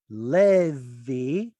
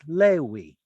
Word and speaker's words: Levi: So why is it that Levi is preserved as Lewi and Kislev is preserved as Kislev?